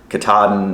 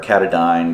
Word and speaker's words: Katadyn: free so this is by Katahdin or katadyne depending on who you are and how you say it big difference on